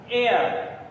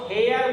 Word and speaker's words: heir: एयर, इसको हेयर मत पढ़ लेना, इसका जो करेक्ट प्रोनाउंसिएशन है वो ए से आता है, आप इसको पढ़ेंगे एयर।